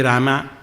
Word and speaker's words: राम: कोई तो राम कहेंगे, नहीं तो कोई रामा रामा रामा रामा, ये ना रामा नहीं राम, इसलिए मरा मरा कहा।